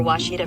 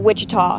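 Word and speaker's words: Ouachita: Searching for Washita Baptist University. Back in Texas, everybody pronounces it Wichita, but really, it's Washita.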